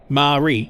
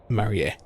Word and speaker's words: Marie: I would have read Marie as Marie. Well, that's how you say it in, like, American and like English or whatever, right? Or like just regular English. But that's how you say it in English. Pardon me, I shouldn't be yawning. but in Japanese the syllables are ma, ri, and then e. Marie.